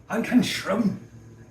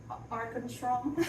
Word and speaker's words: Ankarsrum: So, anyway, You gotta say it like they do. Ankarsrum. Ankarsrum. Ankarsrum. So, Ankarsrum.